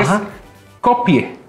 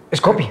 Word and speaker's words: Skopje: macedonia del Norte que es copie es copie así se pronuncia en español se escribe copque o